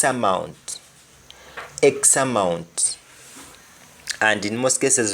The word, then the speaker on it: X amount: X amount. And in most cases we don't even pronounce the T at the end of X amount.